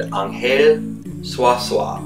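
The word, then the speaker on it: Ángel Zuazua: one such friend is is a guy named anel swasa or as we would pronounce it Angel um because that's the way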